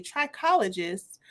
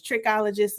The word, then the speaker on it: trichologist: Y'all, I thought it was trichologist, and somebody was like, "No, that's not how you. That's not how you pronounce it." It ain't tricking if you got it. Please don't go in there with that lady talking about no trichologist. She's a trichologist. People was like, "Excuse me, what are you into?" It's all about the emphasis of the syllable.